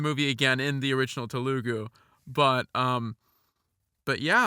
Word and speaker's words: Telugu: How do you pronounce it? Telugu. Telugu.